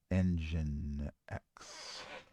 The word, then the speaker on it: nginx: Yeah, Engine X. Engine yeah, X. Gotcha. Gotcha. that's how it's spelled.